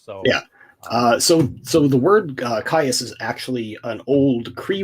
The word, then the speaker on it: KAYAS: So where did you come up with the name KAYAS, which I've been mispronouncing as chaos? So yeah. So the word KAYAS is actually an old Cree word.